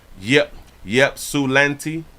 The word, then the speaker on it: Ypsilanti: You say that it's pronounced Ypsilanti. Ypsilanti.